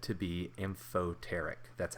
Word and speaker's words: amphoteric: these is water water is said to be amphoteric that's how you pronounce this word and fo tarik anything that can act as both an acid and a base is considered amphoteric so i have two equations here i have